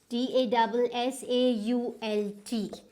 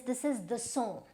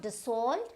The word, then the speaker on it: Dassault: This is DASSAULT. So the company that produces it is Dassault. Right, so this is not Dassault, this is Dassault Aviation, Dassault, right?